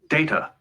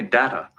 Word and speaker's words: Data: at this data what my name it is pronounced data oh you called me data what's the difference one is my name the other is not what did you think